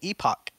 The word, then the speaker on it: epoch: do know that like i pronounced epic wrong once once and vitalik was like i think you mean epoch and so yeah he